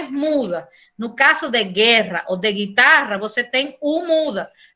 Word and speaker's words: guerra: A diferença está na pronúncia do R, você não fala guerra, fala guerra. Guerra, guitarra, tá? Porque essas duas R têm som forte, tá?